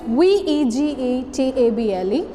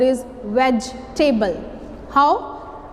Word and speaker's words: vegetable: Exact pronunciation of this word is vegetable. How? E is silent here and the word is vegetable.